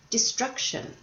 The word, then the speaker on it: destruction: did you hear destruction the stress was on the second syllable now this was on